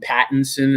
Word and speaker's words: Robert Pattinson: Pattinson is the correct way to say his last Fuck name.